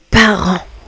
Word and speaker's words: parents: Les parents. Parents. Les parents. Les amis. Ici le t et le s à la fin du mot parent ne se prononce pas.